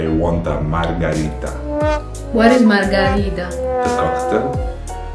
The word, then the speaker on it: Margherita: Just, you know, mix between margarita and margherita because they sound similar. They written similar.